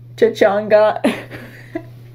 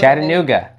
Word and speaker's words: Chattanooga: How do you pronounce this city? Chachanga.